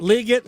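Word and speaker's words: Legette: position group, Xavier Leggett I don't even know how you pronounce his name anymore. Liggett, I think. Liggett. I have to keep thinking. Everybody else keeps saying Liggett. My problem is I'm ruined because I've heard it the wrong way first, and so now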